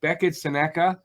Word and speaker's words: Beckett Sennecke: and uh right now we're going to do Becka Sena that is how it's pronounced a very fast late Rising forward um